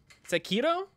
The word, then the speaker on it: Sekiro: Sekiro. Sekiro? Is that it? Shakira? Sekiro. Like the Sekiro. Not Shakira.